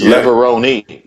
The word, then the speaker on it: Levrone: my name you know it's Leon just in case learn something Leoni it's Italian learn learn father my